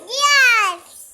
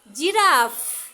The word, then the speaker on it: জিরাফ: কি এটার নাম কি গিরাস গিরাস আবার এফ ও উচ্চারণ করে কিন্তু জিরাফ বলো জিরাফ জিরাফ ফ সব উচ্চারণ করে তুমি পারবা ফ উচ্চারণ করে জিরাফ বলতে এইটার নাম কি মা